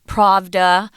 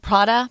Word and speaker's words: Prada: because they're foreign uh but pravda um oh no is it prada prada yeah we have a lot